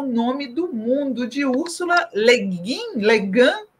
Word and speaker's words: Le Guin: A primeira delas é um livro chamado Floresta é o Nome do Mundo, de Úrsula Legan, como você sabe a pronúncia, não? É, acho que eles falam Úrsula Leguin.